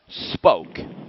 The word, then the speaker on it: Spoke: and the name of the company is just spoke sp it's how it's pronounced but is it incorporated spoke incorporated okay